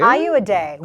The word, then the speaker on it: Ayoade: Ayoade.